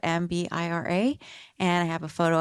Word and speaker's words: mbira: It's also, that instrument is also called mbira, is how I'm going to pronounce it, mbira.